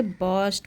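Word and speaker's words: burst: द कोर्ट बर्स्ट into laughter यानी कि कोर्ट जो था दरबार हंस पड़ा, जोर से हंस पड़ा, और यहाँ पे इसे बर्स्ट पढ़ेंगे, यहाँ आर साइलेंट होता है तो इसे पढ़ेंगे द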